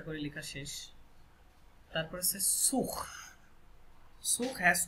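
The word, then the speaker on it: sous: সুখ এটা হচ্ছে সু লাস্টের এস সাইলেন্ট সু এই সু মানে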